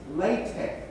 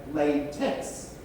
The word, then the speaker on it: LaTeX: out I discovered that Google does not pronounce latch the way mathematicians do Google pronounces Latch as latex which is a rubber material and they followed images